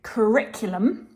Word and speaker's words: curriculum: get back to pronouncing curriculum this word contains four syllables the stress is on the second syllable the Rick now this